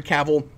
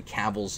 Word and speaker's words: Cavill: it would be great to see him henry cavill return as superman oh by the way real